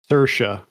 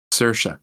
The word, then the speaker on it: Saoirse: How do you pronounce her name? Saoirse. Saoirse.